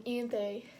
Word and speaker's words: Ianthe: And when Ianthe, I don't know how to say her name, the priestess, Ianthe, I say her Ianthe. A lot of people say Ianth, which just doesn't sound like a name to me, so I'm just going to say Ianthe.